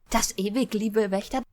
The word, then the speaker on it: Das Ewig Liebe Wächter: Okay, so apparently the correct pronunciation is... Das ewig liebe Wächter.